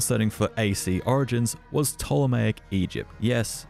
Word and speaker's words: Ptolemaic: for ac origins was ptolemaic egypt yes it's pronounced ptolemaic not patolomaic you filthy plebs with